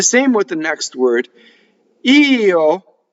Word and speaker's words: io: Io. Not like in Spanish where it's yo for I. This is the word for I. Io, right?